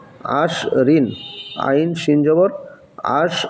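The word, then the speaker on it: عشر: দেখেন আইনশিন জবর আশ আইনশিন জবর আশ রদ ঋণ কি হলো আশরিন আইন শিন জবর আশ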